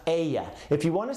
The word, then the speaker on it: ella: Remember that double L right there is a Y, so it's pronounced ella.